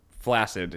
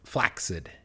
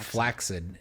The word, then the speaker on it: flaccid: That makes it sound like almost like you're saying flaxseed. Yes. Flax is it's a very similar. It rolls off the tongue the same way. Flaccid. But flaccid is the correct pronunciation of the word.